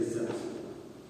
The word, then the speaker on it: Celts: It's a C, but we pronounce it K. But there are people who say Celts.